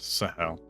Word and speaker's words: Sahel: Okay, yes, it is pronounced Sahel.